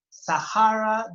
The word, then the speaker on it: Sahara: a desert Sahara okay Thank You Sahara the pronunciation Sahara Desert is the biggest the biggest desert now